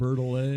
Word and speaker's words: Bertolet: Bertolet. A lot of times you don't say that last T. It'll kind of flow almost like it's French or something.